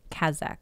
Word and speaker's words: Kazakh: Well, she's not from Kazakhstan, but she's Kazakh, is how you say it, right?